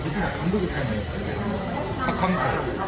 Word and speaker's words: 박항서: 베트남 말로 하면 박항세우가 되는 거야? 박항서, 항서. 어떤 사람들 박항세우 그러던데? 그래 일반 사람들이 말할 때는 또 발음이 안 맞잖아요. 네, 나이 많은 사람도 다 박항세우. 왜냐면은 세우이 영어 그렇게 썼거든요. 그러니까 박항세우를 서 그냥 어떤 사람은 세우라고 그래요.